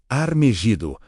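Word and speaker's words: הר מגידו: Em hebraico, Monte Megido se pronuncia Armegido, a raiz etimológica de Armagedon.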